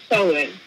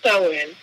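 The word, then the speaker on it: Samhain: um you know all holid we call it SE and that's of course spelled s a m h a i n but it's pronounced SE and that is Halloween too or all Hollows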